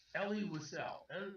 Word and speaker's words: Elie Wiesel: The author's been known all my life as Elie Wiesel.